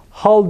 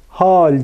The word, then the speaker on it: hal: kase derken aynı şekilde hal derken hal demiyoruz bakınız hal diyoruz ince telaffuzlu bir hece hakikat derken onu da